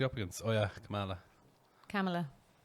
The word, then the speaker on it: Kamala: Kamala. Yeah. There we go. That's how you pronounce that one.